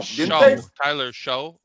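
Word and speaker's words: Shough: The Saints drafted somebody, some defensive Tyler Show. They ain't got no quarterback. It's pronounced shuck, like corn, like I'm shucking corn.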